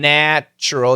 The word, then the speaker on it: natural: natural so once again natural it's a short a natural National everything is